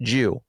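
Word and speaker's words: 十: Even their word in Japanese, dude, the word for um for 10 is a Christian cross and it's pronounced Jew.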